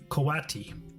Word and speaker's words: coati: This is me mispronouncing it. It's a coati.